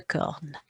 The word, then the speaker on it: cornes: You won't hear it, but you write it.